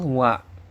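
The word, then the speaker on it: は: agak sedikit beda ya dia ditulis pakai huruf H walaupun dibacanya wa ya tapi ditulisnya menggunakan huruf H dan dia adalah kata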